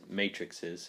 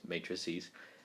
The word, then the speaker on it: matrices: is matrices um so it's not pronounced matrix matrixes it's matrices um and we're going